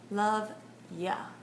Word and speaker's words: love ya: Pero, aún más natural sería love ya. Love ya. Ya no escribe todo Y-O-U, solo se escribe Y-A.